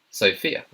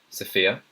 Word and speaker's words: Sophia: The next one is Sophia. Now, I've heard this being pronounced in 2 ways. This one can be Sophia or Sophia.